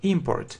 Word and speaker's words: import: a noun yes import import yes the stress is on the first syllable and if it's a verb inart import the stress is on the second syllable so is the opposite